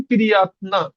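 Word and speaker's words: приятно: উচ্চারণটা এর মতন হবে আমি বলছি যে কোন শব্দের লাস্টে ও সেটের উচ্চারণ আর মতন হবে এরপরে আপনি খেয়াল করবেন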